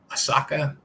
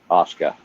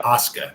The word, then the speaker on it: Asuka: We had Stephanie Valkier versus the return of uh how do you say her name? Asaka. Asuka. Yeah, Asuka. That's it. Asuka.